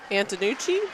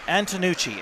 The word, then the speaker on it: Antonucci: you pronounce it Anna Antonucci antonucci Antonucci that's my pronunciation it could be incorrect but that's just how I think I've heard his name said and to Nietzsche Antonucci